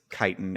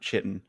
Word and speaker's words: chitin: probably greek but like c-h-i is kai almost certainly it's chitin and not chitten for sure but who